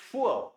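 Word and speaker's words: fuhr: लेकिन अभी इसके साथ में क्या हो जाएगा, इश फुअर, क्या साउंड करेंगे इसको, एच साइलेंट रहेगा, सो इश फुअर, ठीक है।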